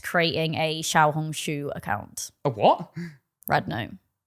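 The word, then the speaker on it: 小红书: was that we are um not creating a Shia hong shu account a what red not what did no what did you just call it xia hong shu is that how you say it in in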